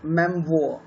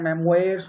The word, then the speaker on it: memoir: तो ये फ़र्क है ऑटोबायोग्राफी और मेमोयर। हालांकि सुनने में दिखने में लगता है मेमोयर्स होगा ये, पर इसका जो प्रोनाउंसिएशन होता है वो होता है मेमोयर।